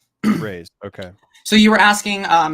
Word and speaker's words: Raze: How do we pronounce the set again? Raze? Am I saying that right? This is Raze. Yep. Raze.